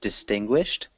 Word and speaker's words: distinguished: You did a great job with distinguished. Really good pronunciation. That's a tough word, especially with the ed ending.